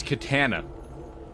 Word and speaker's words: katana: I believe the correct pronunciation is katana. Katana. It's a hard A and you have to say it with a light Texan accent.